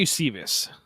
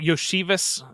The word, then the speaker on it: Iosivas: Andrei Iosivas, I think is I probably said that wrong. Iosivas, I think is maybe the right way to say it. The first time. Now you just sound like you didn't say it right. So go with the first one.